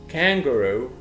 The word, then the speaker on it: kangaroo: horse, kangaroo, كانجارو ومد في الاخر.